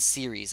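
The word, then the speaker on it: Ceres: there's ays Pluto and series I don't know if I'm saying that right it's c r s so series I think that's how you say it and those are the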